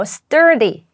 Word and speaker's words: sturdy: 경우는 튼튼한 견고한이라는 뜻이거든요 발음하게 주의하셔야 되는데 여기 보시면 are 들어 있죠 그래서 라고 발음하시면 공부하다가 되어 버립니다 여기는 or 발음을 꼭 넣어 주셔야 돼요라고 발음을 해주세요 이게 아주 튼튼한이라는 뜻입니다